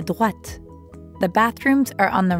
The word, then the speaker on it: droite: À droite. Notice that in droite, we're hearing the same oa sound as in toilette. Toilette. Droite. And make sure you're pronouncing the t sound at the end of droite.